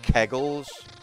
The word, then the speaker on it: Kegel: Maybe it's like extended kegels.